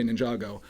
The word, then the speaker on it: Ninjago: Everyone calls it Jago. Come on, it's just one more syllable to say Ninjago.